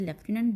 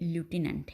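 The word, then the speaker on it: lieutenant: हिज लेफ्टिनेंट, अच्छा ये word जो है इसकी 2 प्रोनाउंसिएशन है। ब्रिटिश इंग्लिश में हम इसे लेफ्टिनेंट बोलेंगे और अमेरिकन इंग्लिश में ये ल्यूटिनेंट है।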